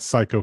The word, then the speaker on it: Cayko: My brother is a professional hunter, and he's starting a channel that's going to be called American Psycho, because that's how you pronounce our last name.